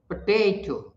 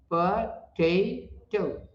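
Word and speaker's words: potato: पोटैटो is stressed on the second syllable, जैसे पोटैटो, पोटैटो 3 syllable है इसमें, पोटैटो second syllable पर stress है, पोटैटो।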